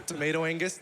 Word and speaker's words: tomatoangus: All right, so yeah, I don't know how we got here, but I'm tomatoangus, the G is silent, and I have a couch behind me.